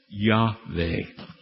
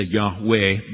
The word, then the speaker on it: Yahweh: And you'll see in many commentaries today, Yahweh. W's are also pronounced like V's, as you recall, in Hebrew and German, like a V. So sometimes people go and say Yahweh, but technically scholars call it Yahweh.